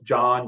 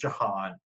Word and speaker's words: Jon: Just remember, it's Jon, Jon. It's not John. It's not pronounced Jahan.